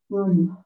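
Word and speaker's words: 돈: Ton. Ton, betul ya. Ton. Ton. Tulisannya bisa don, tapi dibaca ton.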